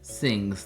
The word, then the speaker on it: Singh: two hours later we can officially call this sings that's how they pronounce it yes okay so this is the